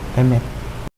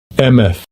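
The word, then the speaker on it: אֱמֶת: Ini cara baca bahasa Ibraninya nih. Emet. Strong's H571. Emeth.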